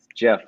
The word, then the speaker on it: Geoff: to spell my name it's jeff with a g g e o f f and last name